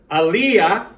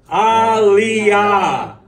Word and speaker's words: aliyah: the things about syllables you don't make aliyah you make alia don't run everything together they're syllables so when you do